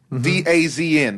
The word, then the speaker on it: DAZN: All right, so outside of the cheesy acronym of a company, it's called DAZN, D-A-Z-N, but you're supposed to pronounce it DAZN.